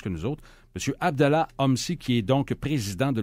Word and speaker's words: Homsy: pas mal plus que nous autres monsieur Abdallah OMSI qui est donc président de la flotte de